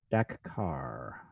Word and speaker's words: Dakar: Dahkar? Dakkar. That was close. Dakar. Which the city only has one K, but well.